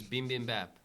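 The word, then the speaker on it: bibimbap: A dish is beam bam bap.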